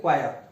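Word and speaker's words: choir: क्वायर, ये भी ध्यान रखना। स्पेलिंग करेक्शन में भी आपको आ सकता है, थोड़ा अजीब सा प्रोनाउंसिएशन है इसका, क्वायर।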